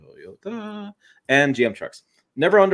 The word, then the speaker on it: Toyota: Speaking of buying, Brenner wants to know, Tim, I've owned Toyota, 3 syllables, Tim, Toyota, and GM trucks.